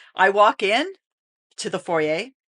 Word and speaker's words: foyer: walk in to the foyer or As Americans say forer okay so Canadian say foer because it is a French word that you butcher I'm sorry it's